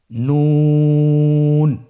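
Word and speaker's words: نون: আপনারা স্ক্রিনে দেখতে পাচ্ছেন জিহ্বার আগা তার বরাবর উপরে তালুর সঙ্গে লাগিয়ে উচ্চারিত হয়। আপনারা জিহ্বার আগাটা তার বরাবর উপরে তালুর সঙ্গে লাগিয়ে উচ্চারণ করুন এবং আমার সাথে বলুন নুন।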